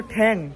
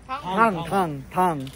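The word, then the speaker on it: Thang: এটার নাম হলো ঠ্যাং। ঠ্যাং না কি নাম বললো, ঠ্যাং না থাং, সরি এটা হলো ঠ্যাং, বাট নাম হচ্ছে আসল উচ্চারণ হচ্ছে থাং।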